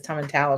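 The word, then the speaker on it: Tomatin: pH Sherry but and I was mispronouncing it everybody mispronounces this one I didn't learn it was Tom and towel until I got there towel towel to towel give it a Scottish accent um so Andrew is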